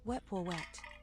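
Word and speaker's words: Wepwawet: His name is pronounced Weepoet.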